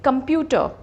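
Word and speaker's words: computer: आर इज इन the final place, कंप्यूटर नहीं होगा, कंप्यूटर। हमने ट पे ही स्ट्रेस करना है, कंप्यूटर। नेक्स्ट वर्ड, अब इको।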